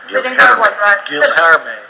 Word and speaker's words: Guilherme: I'll let you pronounce Sousa's first name on the left. Guilherme.